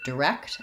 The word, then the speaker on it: direct: the word direct, and in this word we have second syllable stress. So that means that the rect syllable is short and the d syllable the rect syllable is long and the d syllable is short, direct.